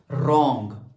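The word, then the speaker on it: wrong: Number next word is रॉन्ग. रॉन्ग में हमारे पास silent word क्या है? डब्ल्यू.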